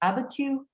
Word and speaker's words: Abiquiu: and I'm not going to be able to pronounce, but it's Georgia O'Keeffe's place. Is it Abiquiu? Yes, at her Abiquiu home and studio, which is outside of, which is a ways out of Santa Fe.